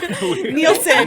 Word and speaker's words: Nielsen: to see arthur and i drinking beers and mispronouncing towns to get ratings on the nelson box nielsen nielsen again yeah it's uh that's what's